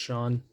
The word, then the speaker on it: Shawhan: This is coming in from Michigan Tech head coach Joe Shawn. It's spelled like Shawhan, but I think it's just pronounced Sean.